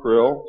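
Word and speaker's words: Krlll: His name and title was His Omnipotent Highness Krill, pronounced Krill, spelled K-R-L-L-L or C-R-L-L-L.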